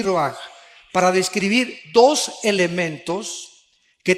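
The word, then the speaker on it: רוח: Aquí se usa otra palabra hebrea que es se escribe roach con R de Raúl A. Se pronuncia roaj.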